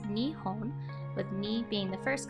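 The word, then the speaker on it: 日本: not so surprisingly is Japan the word is pronounced Nihon with me being the first country in home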